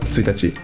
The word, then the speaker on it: 1日: 【け】 “1日” diye yazılır ve “tsuitachi” diye okunur.